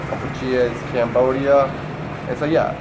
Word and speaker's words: Kampuchea: Kampuchea, right? And that's just the Khmer saying for Cambodia. Kampuchea is Cambodia.